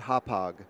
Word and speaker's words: Hauppauge: We're not exactly sure what the correct pronunciation is, but we call it Hauppauge.